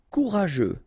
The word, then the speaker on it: courageux: Autoritaire autoritaire courageux. Final X not pronounced together.